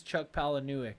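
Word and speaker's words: Chuck Palahniuk: really up but it is Chuck pal that's how you pronounce it that's correct I do know that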